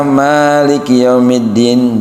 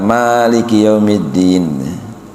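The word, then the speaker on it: مَالِكِ يَوْمِ الدِّينِ: Jadi harusnya Maliki yaumiddin dibaca dua harakat. Maliki yaumiddin.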